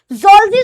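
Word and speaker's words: zoology: बहुत सारे लोग बोलते हैं जूलॉजी। ठीक है? तो जलॉजी भी बोल सकते हो लेकिन ये गलत प्रोनाउंसिएशन है।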